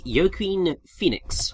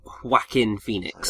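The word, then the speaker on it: Joaquin Phoenix: here, is voiced by Yoken Phoenix or Wacken Phoenix. I can never remember how to pronounce his name. It starts with a J, don't it? Yeah, but it's pronounced like Whackin Phoenix.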